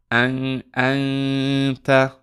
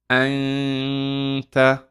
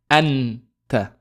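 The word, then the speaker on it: أنتَ: And we say, anta. Anta, right? So we hide the noon, meaning our tongue doesn't hit the upper palate. We don't say anta, right? We don't pronounce the noon, right?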